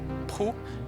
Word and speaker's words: Proulx: Proulx (c'est la prononciation, parce que l'écrivain Canadien français) produit le même style